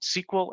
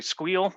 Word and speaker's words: SQL: that's how it's pronounced sql or sql please don't mess up and say squeal that's just not good form sockl is the salesforce